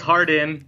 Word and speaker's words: Hardon: so I am here with is it hard on or Harden it's Harden is how it's pronounced that's good because now the funny thing